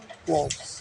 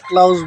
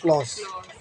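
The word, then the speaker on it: clause: ক্লজ উচ্চারণটা কী হবে? ক্লজ, ঠিক আছে? কারণ এই উচ্চারণটা আমাকে যিনি শিখাইছেন কুমিল্লা ইউনিভার্সিটির আমাদের ডক্টর হাবিবুর রহমান স্যার। আমি এটা ক্লাউজ বলতাম, এর ক্লাসগুলোতে মনে আগে বলছি মনে হয়, তবে উচ্চারণটা হবে ক্লজ।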